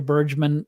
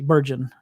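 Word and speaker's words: Bergen: But that was kind of my my takeaway is that Junior Burgeman uh is is not going to make uh the roster, but we'll see. Burgon, I said it wrong.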